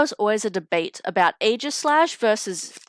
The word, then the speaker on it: Aegislash: I remember there was always a debate about Aegislash versus Aegislash. Like how you say it. I always voted Aegislash because AE next to each other usually just make the A sound.